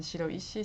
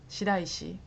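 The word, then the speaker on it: 白石: And also when I give them kanji in Shiroishi city, everybody calls Shiraishi. It's like a different pronunciation.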